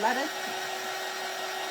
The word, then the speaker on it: Letta: Letta, is that how you say it? Like cheetah. Okay, yeah, Letta.